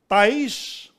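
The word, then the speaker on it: תיש: Ta'ish is how you say it in Hebrew.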